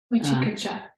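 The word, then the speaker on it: vicikicchā: Vichikita.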